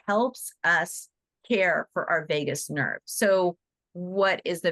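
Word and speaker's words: vagus: nerve does in it Vegas nerve is spelled it's like Vegas Las Vegas but it's Vegas v a so it regulates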